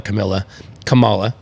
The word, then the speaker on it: Kamala: I'm not gonna say it right because he called her Kamala, right? Kamala's it's Kamala.